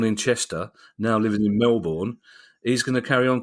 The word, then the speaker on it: Melbourne: Middlesboro now living in Melbourne pronounced Melbourne not Melbourne that put put you